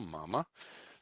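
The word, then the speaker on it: мама: first one right so this one is pronounced ma ma so that second ah gets reduced and becomes an o okay so that's what's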